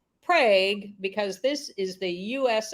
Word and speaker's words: Prague: the name again Anne Prague Oklahoma spelled like Prague but pronounced Prague because this is the U.S of a population